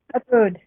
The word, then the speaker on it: Ubud: Ubud.